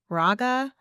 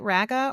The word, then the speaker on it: RAGA: And can you tell us a little bit about your role as chairman of Raga? And I'm sorry, is it Raga or is it Raga? Yeah, it's pronounced both ways.